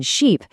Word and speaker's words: sheep: But for the long vowel, the I in sheep, the sound is stretched out and your mouth muscles get tense, almost like you're pulling your lips into a smile.